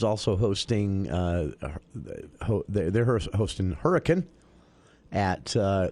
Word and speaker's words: Hurricane: Sky View is also hosting uh they're hosting hurricane at uh not hurricane hurricane uh I learned that in the early